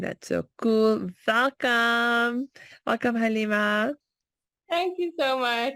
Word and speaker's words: Galeema: was just telling you how beautiful it is when it's pronounced properly because it's spelled Galeema. So often people could say Galeema, which is fine, Alhamdulillah. But it's so lovely to hear the correct pronunciation.